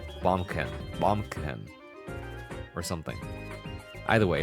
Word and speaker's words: Baumkuchen: Because I'm pretty sure the CH at the end is not pronounced CH. It's Baumkuchen.